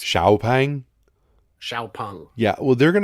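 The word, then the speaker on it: XPeng: just call it an x-pang you'll sell more yeah because it's very hard for us english speakers to look at an x and pronounce an sh i'm working on it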